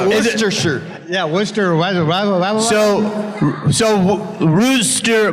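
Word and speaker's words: Worcester: what is it wer wait is it like wer shirt yeah wer so so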